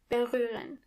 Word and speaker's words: berühren: First of all, the H is silent. Berühren.